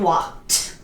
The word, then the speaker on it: walked: okay these are past okay a DD but pronunciation walked okay now jump jump okay jump jump jump